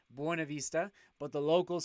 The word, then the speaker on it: Buena Vista: when i call buena vista buena vista properly pronounced buena vista but the locals call it buena vista because we're weird and local like that so